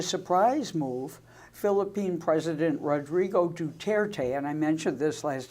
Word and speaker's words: Duterte: move philippine president rodrigo duterte and i mentioned this last time and pronounced his name wrong I said Duarte Duterte declared himself in